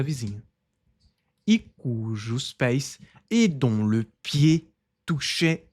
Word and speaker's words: pieds: pi mais uma vez a gente não pronuncia esse d e esse s no final é apenas pie, não é pieds, não, simplesmente pie.